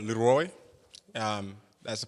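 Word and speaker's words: Leroi: So, um so the clothing brand is called Leroy. Um that's the pronunciation for it.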